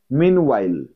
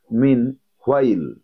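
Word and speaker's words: meanwhile: 25, মিন ওয়াইল, মিন, অনেকে বলো মিন হোয়াইল, হোয়াইল বলবে না, ওয়াইল, মিন ওয়াইল, মিন উচ্চারণটা এরকম হবে, মিন ওয়াইল, মিন ওয়াইল।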